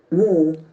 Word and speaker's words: war: See, though the letter is A, the sound is O. War. War. War. R is silent there. War. We are against war. War. Water. Vote. See, War. the words having the letter A may have O sound.